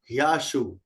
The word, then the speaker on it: ह्याशु: ये जो ह है। हाँ में यह लगा हुआ है, ह्या, ह्याशु, ह्याशु।